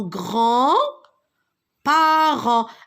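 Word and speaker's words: grands-parents: Regardez, rappelez-vous de l'écriture de ce mot, c'est en grand parent. Alors, le D et le S, je ne le prononce pas.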